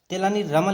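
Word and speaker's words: तेनाली राम: तेलानी रामन लिखा है, लेकिन हम पढ़ेंगे तेलानी राम, प्रोनाउंसिएशन यही बेटर होगा।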